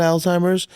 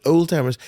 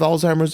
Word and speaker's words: Alzheimer's: They act as if you got Alzheimer's, and some people even called it old timers, right? Maybe people still mispronounce it, old timers. It is not old timers.